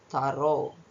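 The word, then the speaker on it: thorough: ಯು ಜಿಎಚ್ ತೋ ಟಿ ಎಚ್ ಒರ್ ಯು ಜಿಎಚ್ ತಾರೋ next ಬೇರೆ ಒಂದು ಉಚ್ಚಾರಣ ಯಾವುದು ಅಂದ್ರೆ ಓ ಯುಜಿಎಚ್ ಗೆ ಎರಡು ಓ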